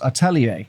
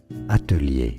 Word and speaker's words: atelier: From French, used in English. Atelier is how it's said in French. Now, in English, atelier.